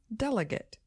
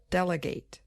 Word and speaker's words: delegate: words in American English so the noun form just has stress on the first syllable delegate but the verb form also has a little stress on the last syllable delegate thanks for being with